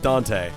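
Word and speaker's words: Dont'a: believe or he's he goes by so he's pronounced as dante dante but it's spelled uh yup don't uh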